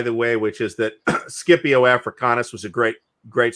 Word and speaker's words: Scipio: different rules of pronunciation the c is just always hard and classical it's always hard yeah so it's it's scipio it's also kaisar and